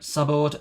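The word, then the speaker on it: saboed: And there is also what sabord, I believe it is pronounced. Let me have a listen very quickly. Yep, sabord, S-A-B-O-E-D.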